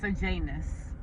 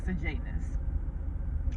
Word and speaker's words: Sejanus: His name is Sejanus. That's how you say his name, Sejanus.